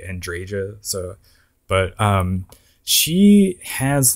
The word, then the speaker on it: Andreja: It's really weird that her name is, you actually pronounce the J. I feel like it should be Andrea, but they, in-game, they actually say Andreja.